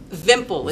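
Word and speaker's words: Wimpel: called a vimple it's vimple it's pronounced vimple with a v but it's spelled with a w this was a german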